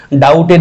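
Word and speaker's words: doubt: ডাউটফুল আমরা ডাউটে থাকি ডাউটের beta কিন্তু সাইলেন্ট লেটার এখানে তারপর আসো দুই হাইড্রোফোবিয়া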